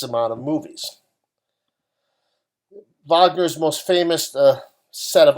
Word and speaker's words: Wagner: ricard wagner and again because he's german that's how his name is pronounced richard wagner and his operas are